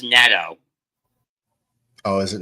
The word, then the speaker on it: Neto: It's pronounced Neto. Oh, is it Nato?